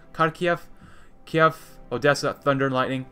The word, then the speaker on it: Kharkiv: Some might say Kharkiv, but Kharkiv, Kiev, Odessa, Thunder and Lightning, and the Zolov Battalion as well as the 302nd-3rd Idar Division.